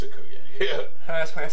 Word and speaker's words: Okoye: It's Okoye.